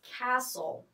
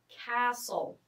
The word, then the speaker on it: castle: the next word is castle castle notice here the t is silent okay so Castle or